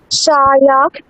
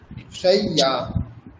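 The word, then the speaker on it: শয্যা: শায়া শায়া একটা য় একবার কেটে নিন, অর্ধেকটা কেটে নিন। শয়, তারপরে বলুন ইয়া। শায়া শয়্যা।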